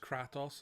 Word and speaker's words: Kratos: or Kratos is Kratt offs from it is pronounced cratis and in ochratoxin Symphony of tales of symphonia